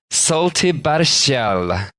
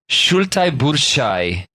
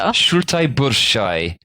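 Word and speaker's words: šaltibarščiai: Salty barshal, which I've definitely pronounced wrong. Yeah, it sounds like you absolutely decimated that. Let me try this again. Shultai burshai. That sounds better. Shultai burshai.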